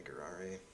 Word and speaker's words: Gurari: It's pronounced like Ferrari with a G, so Ferrari, Gurari.